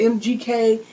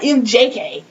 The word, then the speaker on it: MGK: get it confused with mgk that's what it is mgk not mjk my bad and we're